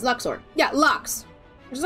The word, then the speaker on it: lux: read his Lux and I know like some people who speak Latin go oh it's pronounced Loops but those are other